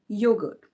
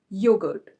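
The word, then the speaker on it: yogurt: मेरा are silent नहीं रहेगा। सो योगर्ट नहीं योगर्ट पूरा फील आना चाहिए कि एक र भी है बीच में योगर्ट। ओके।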